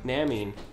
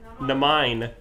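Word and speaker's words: Naminé: Namine. Namine. Namine. No, it has the I has that little whatever that's so you say it right.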